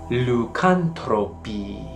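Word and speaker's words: lycanthropi: form of this word it does however sound like and suggests lucantropi with a long i on the end which is a correct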